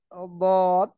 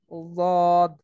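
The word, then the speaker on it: ض: তারপরে হচ্ছে দত। দত হচ্ছে জিহ্বার গোড়ার কিনারা উপরে মাড়ির দাঁতের গোড়ার সঙ্গে লাগিয়ে দদ, দদ।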